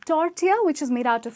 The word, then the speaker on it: tortilla: kind of meat ok so it's tortilla with the ll being silent up next we have